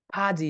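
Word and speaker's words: 바지: बमा आबा नभनेर फा भन्ने, किनकि हेर्नुहोस् त ब अगाडि आउँदा फ उच्चारण हुन्छ, जमा इजी फाजी।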